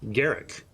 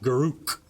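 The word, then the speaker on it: Garruk: a little more definitive since garrick is a character created by people who named him garrick not garuk garuk is simply not correct it never has been wait for the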